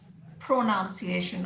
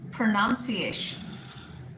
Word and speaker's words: pronunciation: So most often people say pronunciation or pronunciation, which is absolutely incorrect. You should say pronunciation.